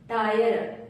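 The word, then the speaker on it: tire: हीरे नहीं पढ़ेंगे higher टायर टी आई आर ई टायर टी आई आर ई टायर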